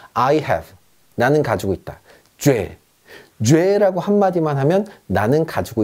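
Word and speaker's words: j'ai: 자, 주와 애가 합쳐졌습니다. 합쳐서 뭐라고 읽냐면 죄라고 읽습니다. 죄. 프랑스어는요, 연음의 언어입니다. 앞뒤로 합칠 수 있으면 가차 없이, 여지 없이 합쳐버립니다. 아무도 이거를요, 주 애라고 얘기하지 않습니다. 그냥 죄.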